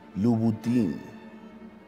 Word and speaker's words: Louboutin: noten yo he llama moto como día louboutin azzedine alaia si aparece y voy y bueno esto fue a capela en correcta pronunciación de marcas de alta costura ha sido